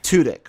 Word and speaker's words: Tudyk: pronounce his name appropriately it's tutic tudyk okay i apologize toodik i i think he